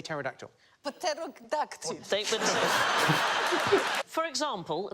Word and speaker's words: pterodactyl: Name a Greek word with a silent P. Enos. Sigh. Do you mean as in pterodactyl?